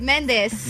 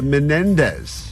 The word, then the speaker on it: Menendez: was saying bada bada you're also missing a syllable in the last name of men of all the names that she gets wrong this one I'm literally saying they're right Mendes the Menendez oh men I mean